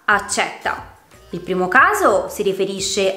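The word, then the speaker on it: accètta: Per esempio, con la E chiusa si pronuncia la parola accetta, mentre con la E aperta diventa accetta.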